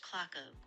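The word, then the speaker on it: Cloghy: The village name is pronounced clock oak with a hard k sound at the start and the ending like hog.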